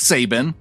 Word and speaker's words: Saban: he says hey guys my name is pronounced sabin you nailed it on